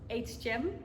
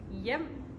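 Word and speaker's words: Hjem: It's a Danish name. People normally pronounce it, what do they say? Hgm maybe. or something like that. But it's actually yum.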